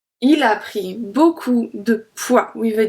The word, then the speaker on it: poids: Il a pris beaucoup de poids with a D. And we don't pronounce D and we don't pronounce S.